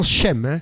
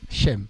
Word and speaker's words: Sem: PG est descendant de Sem çaon SEM le fils de Noé ou plutôt plutôt pron Chem c'est plutôt Chem Chem ah il m SEM mais c'est Chem ah ok donc avec H voilà qui veut dire le